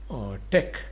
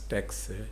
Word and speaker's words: TeX: a greek word where t stands for tech e stands for epsilon and c for chi so tech is basically not an